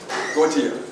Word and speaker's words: Gotia: Sykes, followed by, how do you say the last name? Gotia. Gotia? G-O-T-I-A? It looks like A-Y, but Miss Gotia? Gotia, yeah. Okay. Miss Gotia? Yes, Miss Gotia. Looks like an A-Y.